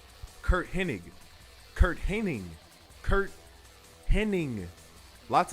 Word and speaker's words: Hennig: most wrestling fans remember commentators calling mr perfect kurt henning instead of pinnig his last name is pronounced hennig to be honest that's